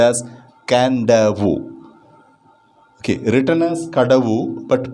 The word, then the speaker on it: Kadavu: under the chapter ana the sacred turtles of can davo page number 91 first video please note this spelling k-a-d-a-v-u is a spelling but it's pronounced as can-davu okay written as kadavu but pronounced as canda